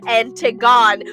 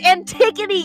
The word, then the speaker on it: Antigone: And 2, Bri, when it comes to Greek names, you tend to butcher them completely. Antigone. What is Antigone? It's Antigone, you stupid hack!